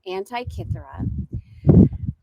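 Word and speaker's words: Antikythera: Anti-Kithera.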